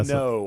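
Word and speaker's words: Mimieux: Minot, I believe is the way her name's actually pronounced.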